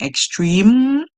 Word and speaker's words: extreme: Even if you hear M as the last song, extreme, the E is there. The E is silent.